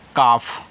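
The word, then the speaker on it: calf: सी ए एल एफ इसको पढ़ते हैं काफ।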